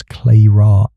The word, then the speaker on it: Clara: Victor Lang's pronounce Lang slippery denials and serpent cufflinks nagged at me, as did Clara Hargrove's pronounce clay ra icy poise and that unopened letter to Lang.